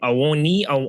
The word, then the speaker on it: Awoniyi: Awoniyi.